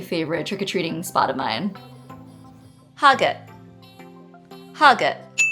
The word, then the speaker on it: Hagat: Hagat. Hagat. This is also pronounced as agate to most locals, and the reason that